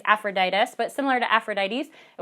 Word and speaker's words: Epaphroditus: you can remember that the beginning is pronounced like the beginning sound of ephesians and that the rest of it is similar to aphrodite's it's aphroditus but similar to aphrodite's